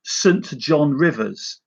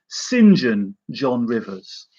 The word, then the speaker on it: St John Rivers: pronounce it as, because I was going to say St John Rivers, but apparently it should be St John Rivers.